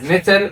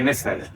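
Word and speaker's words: nfr: So for instance, this letter we can either pronounce it as niter or nefer. They're not sure. Some people even pronounce it as nitshe, but the most common is to say nefer.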